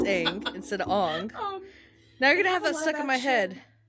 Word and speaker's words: Aang: Like there's this clip of people being like interviewed after the movie and the main character's name is Aang. And in the movie they were calling him Ong.